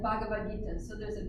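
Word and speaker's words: भगवद् गीता: with that in ISKCON, but actually it's Ha. That H has, like I said, there's no silent letters in Sanskrit. Every letter has, you know, it makes its sound. So it's the combination of Ba and Ha, but with no vowel sound. So it's just Ha. It's like a breath.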